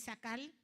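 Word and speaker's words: שָׂכַל: La palabra hebrea es sakal, así como la estoy pronunciando, y significa prudente, sabio, comprender, prestar atención.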